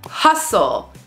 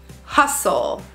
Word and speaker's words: hustle: saying listen silent T hustle s t l e lots of times words with s-t-l-e will have a silent T hustle or f t e